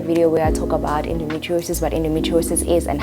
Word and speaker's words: endometriosis: down below so that you are able to pronounce it so here it is endometriosis simple right I'm kidding I know it was